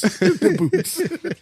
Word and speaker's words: debuts: Not with an S, like multiple. Debuts. You don't pronounce the T. Listen. We're on the roll today, ladies and gentlemen. Debuts. The boots.